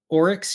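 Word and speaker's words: oryx: seen these creatures before is that how is pronounced orex yeah o r YX I don't know why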